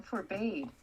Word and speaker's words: forbade: No, forbade. I don't think so. It is too forbade. No, it's forbade. Forbade. Forbade? Wrong. It's forbade. I know it's spelled that way, but that's not how it's pronounced.